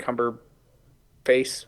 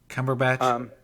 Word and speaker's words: Cumberbatch: It's going to be inspired by the BBC Sherlock show, the one Benedict Cumberface, whatever his name is pronounced like. Cumberbatch.